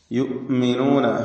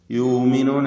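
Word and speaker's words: يؤمنون: യുഅ്മിനൂന ഹംസയുടെ ഉച്ചാരണമാണ് പ്രത്യേകം ശ്രദ്ധിക്കേണ്ടത്. യുമിനൂന എന്ന അവ്യക്തമായി പോകരുത്. യുഅ്മിനൂന ശിദ്ദത്തിന്റെ ഹർഫാണ് ഹംസ.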